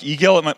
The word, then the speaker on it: IGEL: And then in February, I was at a conference for iGel, or like eGel, you might pronounce it here, the thin client maker.